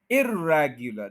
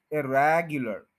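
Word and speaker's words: irregular: इर, इर के ऊपर स्ट्रेस नहीं है, स्ट्रेस ओरिजिनल वर्ड वाला ही रहेगा। एर पे ऊपर स्ट्रेस नहीं करेंगे, इरेगुलर, यानी वही रैग के ऊपर स्ट्रेस आएगा, इरेगुलर, इरेगुलर।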